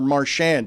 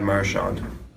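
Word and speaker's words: Marchand: And I think it's been culturally appropriated that Americans have ended up making it a harder marand. So we're about to learn whether I'm erroneous in my reckless speculation. I say Marshand. This was many years ago. He was asked, "How do you pronounce your name?" Brad Marshant. Dan, you're right. Wow. Dan was right.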